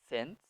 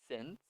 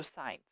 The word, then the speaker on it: since: that just to be careful repeat after me since since yeah be very careful no signs we do not want that sin and so